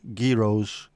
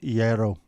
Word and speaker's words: gyros: right common mispronunciations include giros Jos and Gyros the correct pronunciation is Yo can't see the connection question mark the g is silent ye is the pronunciation